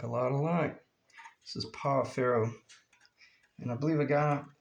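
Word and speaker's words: Pau Ferro: He's from Brazil, and I believe he said it's pronounced Pafijo. Yeah, Pafijo. I believe that's the way you pronounce it. In Portuguese.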